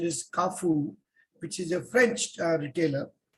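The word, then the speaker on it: Carrefour: little store is called some people call it carry four but the correct pronunciation is kafu which is a french retailer so they started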